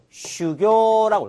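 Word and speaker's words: 修行: 무엇을 수행하다 할 때 수행은 슈교라고 해요. 슈교. 그 다음에 흥행. 흥행은 코교라고 읽을 수가 있습니다.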